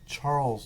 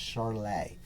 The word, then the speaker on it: Charles: american you might say charles law but he was a frenchman and so it's actually pronounced charlay so charlay's law says